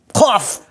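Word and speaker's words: قاف: So it is pronounced from the back of your mouth.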